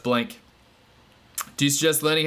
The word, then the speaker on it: Blanke: It's pronounced Blanke.